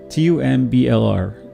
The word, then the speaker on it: Tumblr: T-U-M-B-L-R. It's pronounced Tumblr. No E.